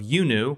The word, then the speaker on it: iUNU: today we are talking with the CEO of yunu which is spelled iuu and the CEO of that is